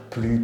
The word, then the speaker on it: plus: En général, on ne prononce pas le S quand il y a un adjectif après. Par exemple, quand on va dire plus petit, ou plus grand, ou plus sympa, par exemple.